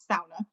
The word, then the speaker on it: sauna: americans would say the sauna but it's pronounced sauna so the first syllable rhymes with like cow sauna um because you know